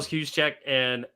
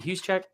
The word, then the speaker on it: Juszczyk: It is literally Kyle Juszczyk or am I saying it right? I always say his name right. Is it Juszczyk?